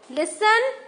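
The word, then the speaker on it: listen: नाउ टी, लिसन, T silent.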